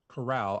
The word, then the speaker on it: Corral: of both of them if matt carr if matt corral i always say is the last name wrong i was that's why i say matt golden corral that's how i remember to say his name correctly if he's half as